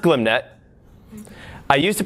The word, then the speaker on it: glmnet: everything so first up glim net yes it's pronounced glim net i used to pronounce the GLM net then it got a lunch with the author